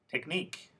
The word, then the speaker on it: technique: in the box ready so two syllable words first technique diset routine here I want you to know the suffix is the last syllable and the word stress is the last syllable too now let's go to